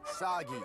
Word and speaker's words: Sagi: Cliche burden boy of action who will save us all is named Sagi. Rhymes with Saki.